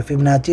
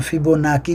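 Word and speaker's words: Fibonacci: फिबोनाची retracement क्या होता है? जिसको फिब रिट्रेसमेंट भी बोलते हैं। फब फिबोनाकी भी बोलते हैं।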